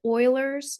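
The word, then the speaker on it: Euler: the same problem uh we do call it Oilers it's spelled e l e r but Oilers constant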